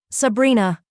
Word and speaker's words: Sabrina: Sabrina. He said it with the Sicilian pronunciation, rolling the R, making it sound like a caress.